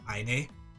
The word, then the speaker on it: Aine: Aine's name is spelled A-I-N-E, and I think it was like Celtic for brilliance, but I pronounce it Aine because I think that's cuter. Like I think it's pronounced aim.